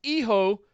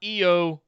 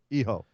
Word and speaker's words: Hijo: He says, Dear Morrow and Beth, it's pronounced Iho, not Eo or Hio. Iho.